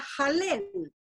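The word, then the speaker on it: הלל: Una de esas palabras es la palabra jalel. Se escribe HL l y esa palabra combinada con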